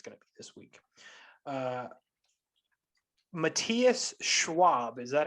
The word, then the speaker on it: Matthias Schwab: Matthias Schwab, is that how you say it?